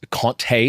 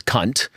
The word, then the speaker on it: Conte: It started as Conte Supper Club. Conte. It's pronounced conte. It's a French word. It translates to a relatable tale. 60s Everybody, French, baby. including like my father, just pronounced it as cunt, Yeah.